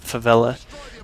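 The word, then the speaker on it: Favela: Destroy on flla and that is how you pronounce it favella I know there's uh other ways that people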